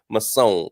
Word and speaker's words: Masson: Masson is the correct pronunciation.